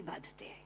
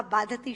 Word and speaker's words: बाधते: मुंह से बोला हुआ बाधती शब्द कष्ट दे रहा है, क्योंकि बाधती शब्द का अशुद्ध उच्चारण आपने किया है, ये शब्द बाधते होना चाहिए। भारम न बाधती राजन यथा बाधती बाधते।